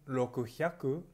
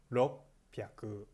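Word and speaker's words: ろっぴゃく: general ed partner so remember now indicia simply Roku Haku it's a awesome on a special case nothing 600 no Kisei on pronunciation yeah is lo p aku okay so next after 600 Marin time 45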